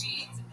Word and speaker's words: Jean: I say it's Jean and then you and then you start off with that.